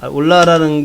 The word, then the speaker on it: Hola: 올라라는 게 이제 스페인 말로 안녕하세요 이런 얘기입니다. 근데 발음은 올라.